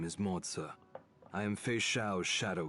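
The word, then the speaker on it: Moze: My name is Moza. Moza. I didn't even know that's how you pronounce his name. I forgot. I thought it was Mosaic or something like that.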